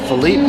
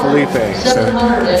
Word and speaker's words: Felipe: charity so please Felipe Felipe Felipe Spanish for Phil would be right there that's right uh and we've called this bowl Philippe slippy slipping yeah everything yeah so just for Tennille we're going to say it right Felipe Felipe is gonna